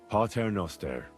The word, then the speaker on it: Pater Noster: Pater Noster, qui es in celis, sanctificetur nomen tuum.